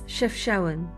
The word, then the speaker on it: Chefchaouen: Then we caught our first glimpse of Chefchaouen. Forgive my terrible pronunciation in this video. It's Chefchaouen, but to be fair, there's a lot of vowels in there. So we've just arrived in Chefchaouen, and it's called the Blue City.